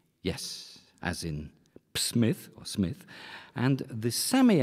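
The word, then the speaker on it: Psmith: both have names that begin with the same silent letter which letter P yes as in Smith or Smith and the semi ad what is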